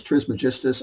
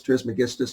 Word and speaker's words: Trismegistus: megistas however it's pronounced the dictionary says trismagistus i always wanted to say tris megistas and then i found somebody else that says trismegistus after i'd already trained myself to say trismagistus because i didn't want